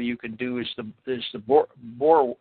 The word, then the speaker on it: Boer: See, in other words, another interesting little study you can do is the Boer, how do you pronounce that? The Boer War?